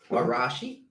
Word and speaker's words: Arashi: Arashi.